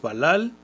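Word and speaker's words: בָּלַל: La pronunciación en la transliteración es Balal y es una raíz primaria.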